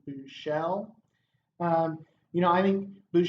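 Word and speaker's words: Buechele: true freshman last name it's shane through shell you know I think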